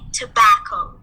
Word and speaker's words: tobacco: pronunciation okay we say tobacco so you open your mouth wide on the second on the second syllable and we put the stress on it to bacon tobacco okay